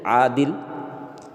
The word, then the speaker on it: عادل: الف مقصورہ۔ جیسے دیکھیے عادل، اب دیکھیے مد میں جتنا کھینچ رہے اتنا اس میں نہیں کھینچا جا رہا ہے۔ عادل، جاہل، دیکھیے الف